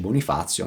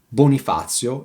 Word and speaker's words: Bonifazio: "Bonifazio" rhymes with "sazio-sated" and "strazio-distress", but let's move on!